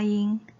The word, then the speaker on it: 一: ㄉㄜ˙ ㄈㄚ 一ㄣ ˊ the pronunciation of One is 聲調沒往上揚 shēng diào méi wǎng shàng yáng ㄕㄥ ㄉ一ㄠˋ ㄇㄟˊ ㄨㄤˇ ㄕㄤˋ 一ㄤˊ a flat tone with no rise sound 或下降的平聲一 huò